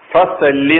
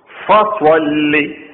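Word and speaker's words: فصل: രണ്ടാമത്തെ ആയത്ത് വൻ ഹർ ഫസ്വല്ലി സ്വാദ് ഫസല്ലി എന്നല്ല വസല്ലി എന്നുമല്ല ഫസ്വല്ലി ലി റബ്ബിക്ക ലി റബ്ബിക്ക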